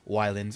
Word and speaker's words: Ylands: with episode 9 now of Wyland's or islands with a why whatever way you want to say it like I said before I'm not sure I'm pretty sure it's Islands with the Y makes sense cuz you're on an island like I said before